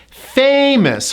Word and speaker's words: famous: Famous. First syllable gets the stress.